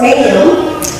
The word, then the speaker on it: Mayume: of you that don't my first name is pronounced menu it's a Vietnamese name that my mother gave